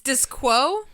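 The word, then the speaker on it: Disqo: But not Disco. It's Disquo? It's spelled like that. It's meant to be like Cisco, the artist.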